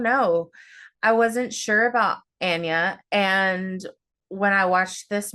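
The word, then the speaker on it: Anya: Um, we have I just learned how to correctly pronounce her name. It's Anna. I did not know that. Anna.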